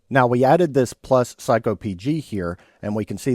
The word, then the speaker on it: psycopg: So, that is psycopg. That's how I pronounce it.